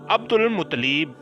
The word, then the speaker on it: عبد المطلب: ان کو عبد المطلب، درست تلفظ اس کا عبد المطلب اس لیے کہا جاتا